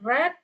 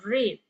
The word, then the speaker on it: read: So remember when you see this past participle tenses with the word have or had, then remind yourself to pronounce this word as a read instead of read.